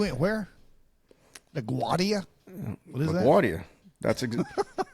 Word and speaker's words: LaGuardia: What is LaGuardia. That's it's a New York name. It's Italian dude. That's how you pronounce LaGuardia. You don't go LaGuardia or whatever you Southerners would say.